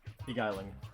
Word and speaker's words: beguiling: How is that pronounced? Beguiling.